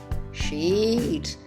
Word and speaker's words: sheet: Can I have a sheet of paper? Sheet. It's pronounced sheet, please.